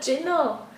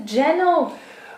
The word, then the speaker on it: ginnel: It's not a ginnel. It's a gennel.